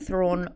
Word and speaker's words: Thrawn: But what I was going to say earlier is that there is a reason that thrawn rhymes with yawn.